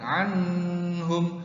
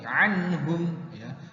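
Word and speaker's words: أنهم: membacanya jelas Anggun Anggun bukan Anu home tapi anhum atau bukan aneh kalau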